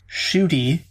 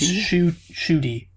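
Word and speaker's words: Ncuti: apparently it is actually his first name is pronounced shooty which i never would have guessed while gatwa is simply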